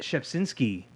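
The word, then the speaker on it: Rzepczynski: You were talking about Mark Shepsinski. That's how you pronounce his name. Mark Who? Shepsinski.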